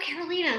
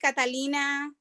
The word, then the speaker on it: Carolina: name is carolina oh carolina sorry that's okay that's okay i'm used to people call me catalina people call me um christina you know katarina so it's okay i